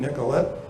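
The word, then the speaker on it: Nicollet: Talking about Joseph Nicolet, or as we pronounce the street named after him, Nicolet.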